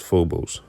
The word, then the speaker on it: Phobos: Ancient Greek, pronounced phobos, meaning fear.